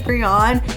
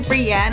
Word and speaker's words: Brianne: because my name is Brianne, and everybody always calls me Brianna. I'm like, it's Brianne.